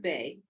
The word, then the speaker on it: Bey: All of my books now, I'm called Dr. Bay, and that's Bey.